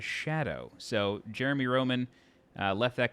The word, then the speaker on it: Scadu: FK Bui said that scadu is pronounced in Old English as Shadow so Jeremy Roman left